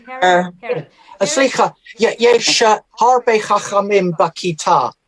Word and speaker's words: Herod: רמזס השלישי, רמזס the טדי קולק, Herodotus, how do you pronounce that in English? Herodias. Is it Herod? King Herod.